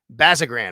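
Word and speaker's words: Bazirgan: again Brian Gay and it's Matt basagran is how you say his name he is uh their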